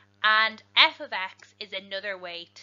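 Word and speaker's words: f(x): some pieces to note f of x this is pronounced f of x it's important to get used to saying that correctly because it is not f by x it is not multiplication it is something very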